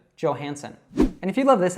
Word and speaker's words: Johansson: S's there, and then what a lot of people mispronounce here is the J. So this actually comes probably from some Scandinavian language where the J would be pronounced as a Y. So that would actually probably be more correct, saying Johansson. But she says it as an American would. So she says that J as J, Johansson.